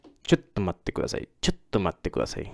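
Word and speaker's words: ちょっと: chotto. Remember, it's not shotto. It's chotto.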